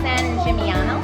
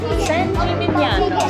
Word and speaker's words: San Gimignano: San Gimignano. San Gimignano.